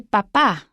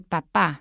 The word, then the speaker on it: papá: So if you say el papá, that's your father, el papá, stress on the second syllable.